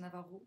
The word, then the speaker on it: Navajo: qui nous ont pas les Navajo pardon les Navaro je dis toujours Navajo c'est Navaro on prononce pas qui nous ont tout